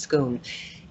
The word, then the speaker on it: Scone: to Scoon which we think the word is scone but it's actually pronounced scone and that's where they're always crowned and so